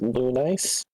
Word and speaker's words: Lunice: that uh v v characters last name is pronounced lunice it's kind of the same way how my